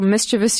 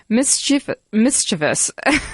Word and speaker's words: mischievous: a caller about potential mischievous use of a photocopied driver's license. My first thought was, hey, he pronounced it correctly. Mischievous. the 3 syllables. Emphasis on the first.